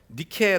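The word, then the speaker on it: Nike: 색깔 4 나이키 뜻이 무엇인지 아십니까 나이키 헬라어로 니케 라고 하는 그리스에 승리의 여신 을 영어로 발음하면 나이키의 요나 이렇게 우리가 프랑스 루브르박물관 해가며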